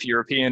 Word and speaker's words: Europe: warning award these Europe European and Euro um yeah it's kind of like almost it's almost like you're saying you're and up really quickly but with the stress on the first part so Europe right Europe